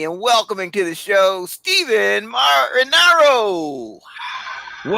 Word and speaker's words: Stephen Marinaro: Please join me in welcoming to the show Stephen Marinaro. Whoa, what an intro. First of all, you pronounce my first and last name correctly.